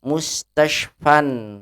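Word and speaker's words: مستشفًى: Kalau dihilangkan alif lamnya, maka isim maksur ini menjadi tanwin, mustashfan, begitu.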